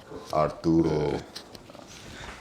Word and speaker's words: Arturo: you're actually the first person who actually said it right. Oh, yeah. Arturo. I took like 3 years of Spanish, bro. Arturo. Arturo. Arturo is how you would say it in Spanish.